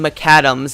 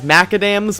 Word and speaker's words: Maccadam's: looking at transformers cyberverse season 1 episode 10 McAdams and yes I'm saying that as McAdams I was we caught previously referred to it as maca dams but that's because if I'm honest I never